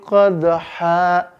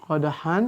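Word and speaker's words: قدحا: 'adiyati dobha, fal muriyati qadha. Kan tulisannya qadhan tuh, maka dia dibaca qadha. Ya, qadhan ayat keduanya. Ya, qadhan, maka cara bacanya menjadi qadha. Ya. Dia tanwin an-nya diubah menjadi fathah dan panjang.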